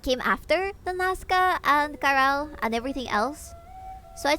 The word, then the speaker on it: Caral: It's pronounced Caral. It's written like this. Kirill. Maybe you would pronounce it like that.